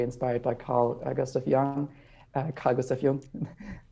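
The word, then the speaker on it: Carl Gustav Jung: by carl agustin young cargos of young which is the german pronunciation and and so that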